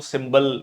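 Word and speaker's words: cymbal: सिंबल ये सी वाई एमबी एल इसको सिंबल pronounce किया जाता है।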